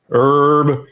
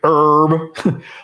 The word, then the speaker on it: Herb: hasn't fought since that Herb Dean you always do that he says it herb he pronounces the H and you don't no